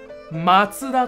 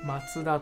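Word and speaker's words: 松田: 松田と読みます。松田と読みます。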